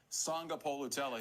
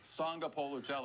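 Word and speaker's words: Sagapolutele: Sanga Polutelli. Again. Jaron Keave. Sanga Polutelli.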